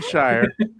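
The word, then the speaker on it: Scheyer: Shire. I like Shire. We'll go there. Coach? Yeah. John Yeah, Shire? that's John Shire. Oh, yeah, John Shire. Yeah. Shire. I don't know. 7.9. John Shire looks to lead Duke to its third straight.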